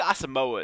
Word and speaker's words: Asamoah: actually is it us i think asamoah is how you pronounce it it's going to slot